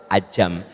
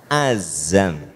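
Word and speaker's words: عزم: Nah, orang Indonesia mah gitu sok pronunciation-nya ya, makhorijul huruf sok salah teh. Apa Bu? Ajam. Bukan, azam.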